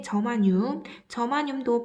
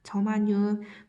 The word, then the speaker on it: 저마늄: 그 다음에 저마늄도 반도체 소자예요. 반도체 재료고요. G라고 적습니다. 저마늄, 또 다른 발음으로는 게르마늄이라고 돼요.